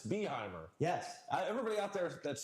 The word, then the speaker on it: Behymer: Yes, Behymer. Yes, Behymer. Guys, it's Behymer.